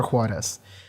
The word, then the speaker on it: Juarez: Juarez, and that is how you pronounce it in Spanish, so that's what I'm gonna call her.